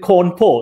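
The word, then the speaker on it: Cawnpore: and they spelled it corn poor o r c-a-w-n-p-o-r-e so it sounded like something out of a newer coward song and i sort of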